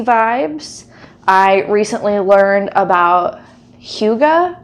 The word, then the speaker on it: hygge: I recently learned about hygge, I believe is how you say it. It is a Danish term, and it in